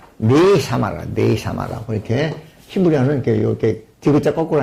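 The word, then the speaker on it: נשמה: 네샤마. 끝에 오는 H는 발음이 안 납니다. 그래서 네샤마라고 해요.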